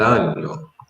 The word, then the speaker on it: año: Okay, and this would be los, let me say, los meses del año.